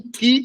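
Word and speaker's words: Χ: O Ki é muito confundido com o Kappa. Aqui é o Kappa, que é o K, e aqui é o Ki, que é o CH.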